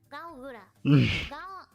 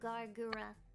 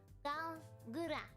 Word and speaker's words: Galgura: A lot of you guys pronounce it Gargura, which is fine. I guess that's acceptable. I suppose, but... I pronounce my name Galgura. Galgura. Gal. It's like kind of just like Gal.